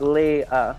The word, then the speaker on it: Leah: Obvious that fucking Leah, Leah, I need to just say Lee, like Leah. Yeah. It's easy. It's 2 syllables.